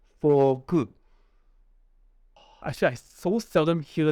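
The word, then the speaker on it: フォーク: Yeah, so you gotta remember to drag out the word fork. Forku. Forku. Remember ku, yeah, because Japanese, there's a K, they pronounce the K as ku. So if you don't say the ku, if you just say ku, they probably will not understand it.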